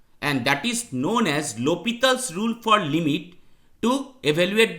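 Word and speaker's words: L'Hôpital: The rule is named after Guillaume de L'Hopital, which is a French name and pronounced as L'Hopital, not El Hospital. So that must be pronounced as L'Hopital rule for limit.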